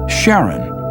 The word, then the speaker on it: Charon: preferred to pronounce it Charon more like his wife's name Charlene from the motions of